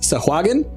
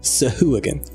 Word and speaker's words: Sahuagin: I always thought it was pronounced Sahuagin. And then I went to a site and they had the little thing. Here's how it's pronounced. Sahooligin.